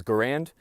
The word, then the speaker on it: Garand: Garand actually put out a note, and he asked that his preferred way of his name being pronounced was Garand, as in errand.